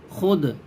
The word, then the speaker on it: خود: Number 43 واو معدولہ۔ واو معدولہ وہ واو کہلاتی ہے جو لکھنے میں آئے اور پڑھی نہ جائے۔ اسی سبق کو پڑھنے